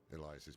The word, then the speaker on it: Elias: I've always wondered if people knew that that's how you pronounce Elias and not like Elas or something.